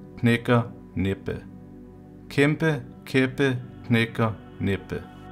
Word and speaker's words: knækker: Next one is knækker, knækker, knækker. The last word is næppe, næppe, næppe, næppe. And the whole sentence again. Kæmpe, kæppe, knækker, næppe.